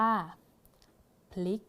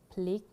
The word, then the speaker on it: พริก: อ่าน ว่า กวาง กวาง สังเกต ได้ ว่า การ อ่าน ออก เสียง คำ ควบ กล้ำ แท้ นะ คะ เรา จะ อ่าน พยัญชนะ ต้น 2 ตัว แรก นี้ นะ คะ พยัญชนะ ต้น